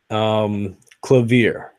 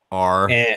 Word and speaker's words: clavier: Clavier. Clavier. Yeah. Okay. This doesn't sound too hard. CLAVERE. No. Damn it. It was CLAVIER.